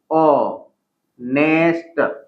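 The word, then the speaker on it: honest: तो अगर हम यहाँ पे देखेंगे H है, H इज कॉन्सोनेंट, लेकिन उच्चारण इसका क्या होगा, इट इज ओ नेस्ट।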